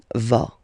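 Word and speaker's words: vas: To va. Same thing here. Final s not pronounced tova.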